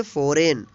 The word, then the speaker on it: foreign: जी जो है साइलेंट हो गया है, इसका उच्चारण नहीं होगा, इसको पढ़ेंगे साइन। साइन मीन्स चिन्ह है। FOREIGN, इसको पढ़ेंगे फॉरेन।